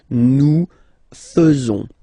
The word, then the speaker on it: faisons: So it's quite strange because French people tend to pronounce faisons. Okay? So like here, this AE is not pronounced like normally we should pronounce it like E, but then like E. Okay? Nous faisons.